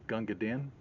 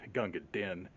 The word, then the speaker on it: Gunga Din: was a remake of Gunga Din. I always hear that pronounced as Gunga Din. It's actually Gunga Din. It's spelled D-I-N. But Dean is what rhymes in the original poem that's based on.